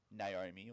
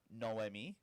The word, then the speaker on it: Naomi: I was commentating with I think actually did pronounce it no no um Naomi or Naomi yeah but it is noomi um anyway let's move